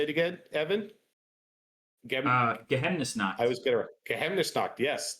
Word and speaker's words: Geheimnisnacht: Geheimnisnacht.